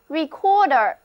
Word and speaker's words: recorder: 了，这个单词读作 recorder， r e c o r d e r， recorder。